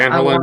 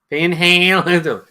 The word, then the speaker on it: Van Halen: But Van Halen versus Van Halen. Typo. Imagine if you pronounced it Van Halen.